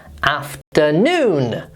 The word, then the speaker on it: afternoon: I don't think this is too difficult, but look where the little apostrophe thing is. It's in the middle, which means that we stress the last syllable there. It's after and then we stress afternoon.